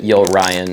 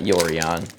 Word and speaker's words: Yorion: And yes, I pronounce it Yo Ryan. Yeah, that's fine. Not Yorion.